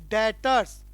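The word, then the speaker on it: debtors: है डीबीटी जो आरएस लेकिन प्रणाम सेशन बच्चों डेटर्स भी साइलेंट होता है कि अगर भी को भी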